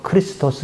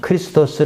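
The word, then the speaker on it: Χριστός: 그리스어로 는 " 크리스토스 " 입니다 . 우리 는 ' 크리스토스 ' 의 발음 을 부드럽게 하여 ' 그리스도 ' 라고 부릅니다 .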